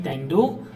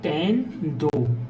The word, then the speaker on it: tendo: Instead of saying tendo, we will say tendo. So there are two beats here.